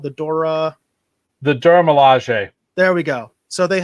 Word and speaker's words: Dora Milaje: The Dora Milaje.